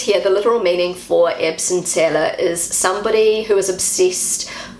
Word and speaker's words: Erbsenzähler: This is how Google pronounces the word. Erbsenzähler. Erbsenzähler.